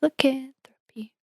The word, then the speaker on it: lycanthropy: And then I remembered the Shakira song She Wolf. And she says, lycanthropy. This is lycanthropy.